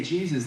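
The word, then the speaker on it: Jesús: to be like, "Hey, Jesus, nice to meet you." And he's going to go, "What did you just call me?" "It's pronounced Jesus." Yeah, the J is soft.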